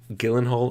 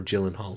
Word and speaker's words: Gyllenhaal: That's Jake Gyllenhaal or Gyllenhaal depending on who you are and how you say it.